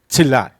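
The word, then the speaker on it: Chelan: Now, it looks like it's spelled Chelon, but I've been corrected several times, including been provided the Native American pronunciation, which is Tzilan, right?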